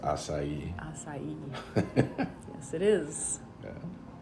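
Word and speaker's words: açaí: Yeah, I would have acai from Brazil flown over on a pterodactyl.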